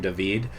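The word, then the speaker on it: David: pronunciation of the name dahveed in the comb Ninian restoration series here's the thing that is how d-a-v-i-d is pronounced in just about every language that i've been able to find except for English because English is really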